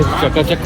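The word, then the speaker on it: Chatuchak: ये है चकाचक मार्केट। अब इसकी प्रोनाउंसिएशन सही नहीं आ रही है लेकिन कुछ ऐसे ही बनता है, चकाचुक या जेके चक, क्योंकि ये लोग CH को J प्रोनाउंस करते हैं।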